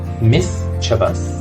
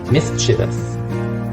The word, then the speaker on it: mischievous: vowel Miss Chivas whereas in American English the vowel sound is reduced to schwa so it's pronounced myth chavas Miss chavas are you a mischievous student number 13.